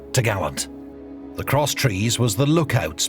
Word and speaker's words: topgallant: then the crosstrees, which secured the topgallant mast, pronounced togallant.